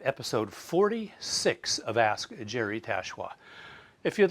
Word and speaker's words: Tachoir: Hello, Jerry here with Season 5, Episode 46 of Ask Jerry Tachoir.